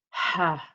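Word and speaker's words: ح: you say ha ha and I have that air present because that's one of the characteristics of the little hat so it's very important that you get that air present in the pronunciation of the letter ha so ha ha ok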